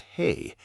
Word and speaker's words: ה: A single Hebrew letter pronounced hey added into a name that already existed, changing its sound and its meaning at once.